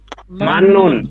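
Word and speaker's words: 맞는: ত বাচ্চা এর পরে এই ত বাচ্চিমের পরে যদি ন আসে কি আসে ন ন আসে ন আসে তাহলে এই ত এর উচ্চারণ ন হয় ত এর উচ্চারণ এখানে কি হবে ন এখন বলেন কি হবেন মান্নুন গুড মান্নুন উচ্চারণ কি হবে মাননুন এই মান্নুন অর্থ সঠিক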